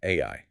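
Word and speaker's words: 愛: The kanji symbol for love is pronounced Ai.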